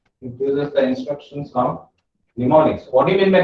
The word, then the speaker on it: mnemonics: M is silent over there. Mnemonics. Mnemonics. You need to call it as a mnemonics.